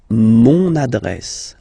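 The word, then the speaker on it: mon adresse: monad monad my address monad monad okay you can hear now this little link so you've got to pronounce this n monad monad okay and the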